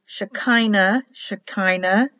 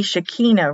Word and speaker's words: Shekinah: Shekinah should be Shekinah, really. Not an I would be pronounced as an E. S-H, because the dot's above it. S-H-E-K should be K-H. I-Y.